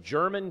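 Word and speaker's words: Jermyn: Very grateful for the church that I had the privilege to grow up in the town of German, Pennsylvania, spelled with a J, J-E-R-M-Y-N.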